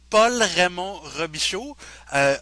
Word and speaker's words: Paul Raymond-Robichaud: I pronounce my name as Paul Raymond-Robichaud. Of course, that's the French pronunciation, and I myself I'm